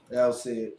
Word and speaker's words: Alcide: Alcide.